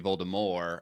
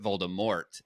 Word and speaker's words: Voldemort: was supposed to be Voldemort as in like the French pronounce but the audio reader pronounced it Voldemort and so that just